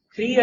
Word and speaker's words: Kriya: Cria yoga. Cria tem duas sílabas, cri e a.